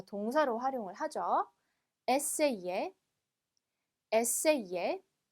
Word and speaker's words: essayer: 자, 여기 보면 여기 이그가 있어요. 원래 얘가 단어 안에 들어가면 그냥 이 발음 난다 라고 했었는데요. 여기는 에세이 앞에 아가 붙었기 때문에 에이에처럼 발음해 주시면 돼요. 그래서 에세이에 이렇게 발음해 주시면 되겠습니다.